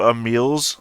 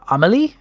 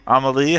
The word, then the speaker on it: Amelie: march on down to a meals room uh amelie amelie sorry i had the letters right that's not the pronunciation yep yep all right